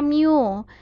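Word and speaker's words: μ: Ini dibacanya mu.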